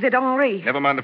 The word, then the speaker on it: Henri: He pronounces it Henri.